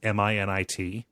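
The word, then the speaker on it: Minit: doing a search for it's Mi nit not like minute as you would spell it like a you know like an actual word uh this it's like minute if minute was trademark yes uh but it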